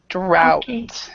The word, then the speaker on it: drought: so in this respect the GH do not try to pronounce it it's an ow sounds this whole thing drought okay number seven uh